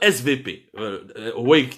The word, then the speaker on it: SWP: de sécurité le fameux svp SWP mais en allemand le W se prononce V svp qui est l'institut